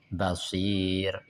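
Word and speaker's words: بصير: Yang keempat bila dimatikan karena wakaf dan didahului ya sukun. Contohnya khabir. Basir.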